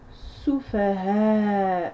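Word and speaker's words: السفهاء: ici vous vous retrouvez avec la shadda, qui fait que l'article qui est juste devant va être littéralement avalé. Donc ça, on ne le prononce pas. On passe directement à sous, fa, ha, prolongé de la lettre alif, ha, ou, soufaha, ou.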